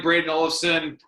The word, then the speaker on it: Brayden Olafson: this is my buddy Brayden Olafson. That's I'm pronouncing that right? You got her. Yes, sir. All right, Brayden Olafson with Puck Preps, Eastern Canada.